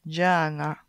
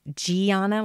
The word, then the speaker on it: Gianna: her name Jana Gobi Jana so I used to say like Gianna like that long e sound but it's there's no